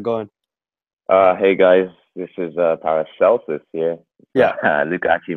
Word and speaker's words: Paracelsus: Hey guys, this is Paracelsus here. Yeah. Luke actually mispronounced it.